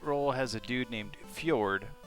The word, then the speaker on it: Fjord: has a dude named fjord pronounced ford and he carries a